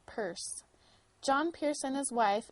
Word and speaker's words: Pearce: Pierce at that time they spelled their name p a r CE e and pronounced it purse John Pierce and his